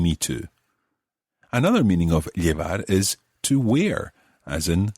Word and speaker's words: llevar: To begin with, we're going to look at the word llevar. As you know, it's spelled L-L-E-V-A-R, llevar.